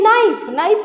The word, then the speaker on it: knife: ये नाइफ में K silent हो जा रहा है, N, नाइफ, NIFE, KNIFE, नाइफ.